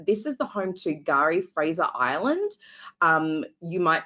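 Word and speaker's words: K'gari: Island now known as Gary spelled with a K but pronounced with a G um and this is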